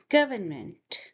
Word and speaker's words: government: Because you see, this is schwa sound, which is like a. Government. Say it with me. Government. Government. I'm exaggerating the sound a bit. In everyday life, you will say it like that. Government.